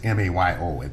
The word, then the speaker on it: Mayo: Yeah, the Mayo study is M-A-Y-O. It's as though it should be pronounced Mayo.